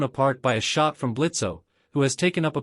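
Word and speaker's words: Blitzø: The O is silent now.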